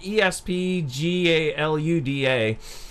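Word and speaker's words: ESPGaluda: titles galuda - and I always pronounce that wrong it's like ESP GA Lu da I have the original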